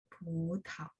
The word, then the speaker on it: 葡萄: 葡萄 anggur. Jadi karena P bacanya PH ya. Jadi 葡萄. T-nya juga TH.